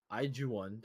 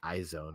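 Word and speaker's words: IZ*ONE: Iju1, that's how it's supposed to be pronounced. I'm just gonna say iZone.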